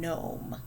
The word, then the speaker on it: gnome: those words i don't what about nat gnaw and gnome do you hear a g in any of those words me either down here